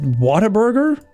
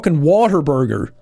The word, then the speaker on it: Whataburger: it's just Whataburger Whataburger I know for some people pronounce it it sounds like Water Burger like ooh I love water in my Burgers so it's just like man what a burger look the H is an important letter you know it has a lot of when you when you pronounce it properly h has a lot of like oomph to it it's a it's just a such a forgotten letter in the English alphabet